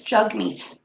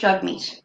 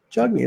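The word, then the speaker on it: Jagmeet: learned recently that we're all saying his first name wrong it's Chuck meet its jug meet its spell jacket but it's pronounced jugni jugni okay in case you meet him now we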